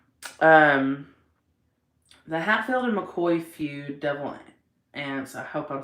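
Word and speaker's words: Devil Anse: The Hatfield and McCoy feud, Devil Ants. I hope I'm saying that wrong. Or right. Hatfield on the Kentucky-Virginia border sounds like ants. Okay, yeah, I was saying it right.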